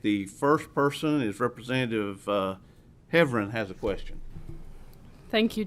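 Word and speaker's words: Heavrin: The last 2 committees I've been in, my name's been butchered, so I appreciate you saying it correctly the second time. Sorry. For all the people in the room sending the text, we do know my last name is Heffron.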